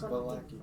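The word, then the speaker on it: Vallaki: Valaki, right? Yeah, it's Valaki.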